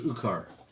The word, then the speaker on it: Ukar: My name is Ukar, He's an orc. Can you spell that? No, Or he's the just half- Flemish. half orc. Half Can you orc. spell that? Oukar. Ucar. Oh, Ukar. like you're okay.